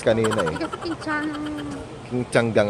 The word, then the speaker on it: Qingtiangang: King ti changgang ang pronunciation.